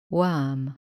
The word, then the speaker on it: worm: It is not O anymore, but worm.